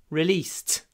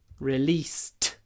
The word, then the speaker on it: released: last week remember that after an unvoiced sound Ed is pronounced T so we say released we don't write it like that we write released but we say released at the end released